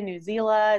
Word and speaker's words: Newsela: we've got news ela newsela it's pronounced a whole lot of ways but you can now go back to all of your friends and say it is officially newsela rhymes with umbrella so first and foremost